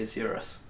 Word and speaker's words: Isurus: the mako shark and i read the word israelis and i thought well that's it game over